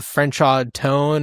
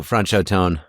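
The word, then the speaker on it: Franchot Tone: uh was it Franchaw Tone or something like that, right? Francho Francho Tone.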